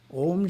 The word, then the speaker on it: om: must be pronounced correctly the first syllable is a pronounced as the english word ah but prolonged ah second syllables ooh